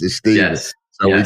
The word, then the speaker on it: Stephen: ruined it for all of us, but it's Stephen the way that I pronounce it. That's the way my That's the way my father pronounced it. Stephen.